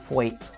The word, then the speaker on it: Twat: In Guest House Paradiso, the characters are now named Richard Twat, which is meant to be pronounced Thwait, and Edward Elizabeth Indingum Baba.